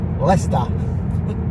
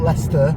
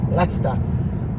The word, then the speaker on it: Leicester: Pronounced Leicester. Not Leicester, Leicester.